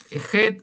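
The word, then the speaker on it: חית: Entonces, por eso algunos dicen, ¿cómo usted nos enseñó Het? Pero acá dice Chet. ¿Ah? es en realidad es het.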